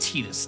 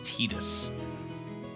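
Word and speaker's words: Tidus: Yes, his name is pronounced Tetus. That is the official pronunciation of his name is Tetus.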